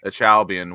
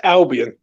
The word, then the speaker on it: Albion: a chalby and how how are you supposed to pronounce the achalbian part why is it pronounced achalbian when there's no ch in it it's albion albin okay it's been a